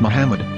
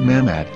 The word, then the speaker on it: Muhammad: According to Ben Yehuda's Hebrew-English dictionary, it is correctly pronounced as Muhammad, not Mamad.